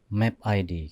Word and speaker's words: MAPID: Jadi Mapit itu sebenarnya branding aja. Gitu. Map ID. Kalau saya kadang-kadang mikir bukan orang itu bacanya.